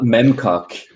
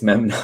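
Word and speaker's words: Memnoch: It's not Memcock. It's Memnock.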